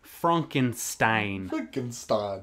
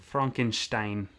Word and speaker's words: Frankenstein: It's pronounced Frankenstein. Frankenstein.